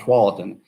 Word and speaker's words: Tualatin: The people that were here first were the Atfalati Indians, and the white man could not pronounce that, and it came out Tualatin.